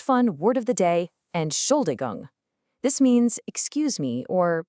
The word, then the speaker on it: Entschuldigung: Entschuldigung.